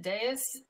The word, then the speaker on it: dais: So what about is it dais? Is that how you pronounce it? Yeah. The little podium.